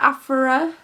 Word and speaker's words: Aphra: Is that how you say it, Aphra? I always want to say Alpha. I know it's not Alpha.